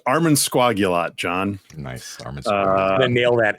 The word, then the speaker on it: Armansquagulat: of today's uh uh Adventure the word is pronounced Arman sagot John nice Arman nail that every single time